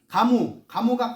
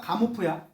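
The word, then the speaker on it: Gamow: 가모가 가모프야. 조지 가모프. 러시아 사람이라서 이름이 성이 GAMOV예요. 러시아식으로 읽으면 가모프. 영어식으로 읽으면 뒤에 V가 묵음이랍니다. 가모.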